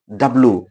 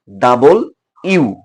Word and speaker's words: W: ডাব। সবাই আমরা উচ্চারণ করি কি? ডাব। কিন্তু এটা উচ্চার সঠিক উচ্চারণ হচ্ছে ডাবল ইউ।